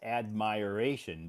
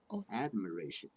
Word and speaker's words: admiration: yeah so you would think it would be pronounced admiration but it's admir Iration admiration admiration admiration from others it's like saying look